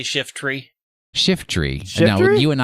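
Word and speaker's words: Shiftry: shift tree shift array what did i say it's two syllables not three shift tree shift you keep saying shiftery shiftery i'm pulling out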